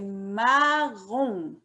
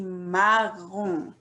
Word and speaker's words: marron: The color, c'est marron. The O-N, we pronounce it on. Alors, on dit marron.